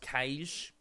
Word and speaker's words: Cache: It's pronounced Kaish.